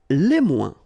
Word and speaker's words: moins: Okay, so le moins, remember when we combine this O-I-N together, we get the sound ouin, ouin, ouin, okay, and we don't pronounce this final S. Le moins, la moins, les moins.